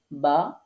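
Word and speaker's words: ب: বিশেষ করে বা, এখানে ওয়াও এবং মিম এই দুইটা আমরা নরম করে উচ্চারণ করব, আর যখন বাটা উচ্চারণ করব, বাটা শক্ত করে উচ্চারণ করতে হবে। তো এই জন্য আমি বা শক্ত সংক্ষেপে এখানে লিখে দিয়েছি, মানে এই বা হরফটা শক্ত করতে হবে।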